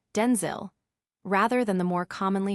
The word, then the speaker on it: Denzel: that his name is pronounced with a short I sound, Denzil, rather than the more commonly heard Denzel.